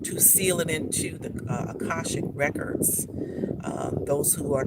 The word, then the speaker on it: Akashic: Those who are not familiar with the Akashic, it's pronounced in different ways because we talk about dialects from all over the world. So it's AKA SHAIC. You might see it spelled that way, Akashic.